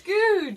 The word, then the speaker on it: Goudge: So it's Googe. Yeah, it is Googe.